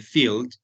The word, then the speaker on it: field: Entonces, tenemos estos dos significados cuando hablamos de field y recuerden que la E no se pronuncia.